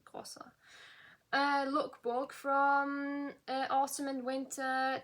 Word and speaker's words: Grossa: It's got a double S, so Grossa.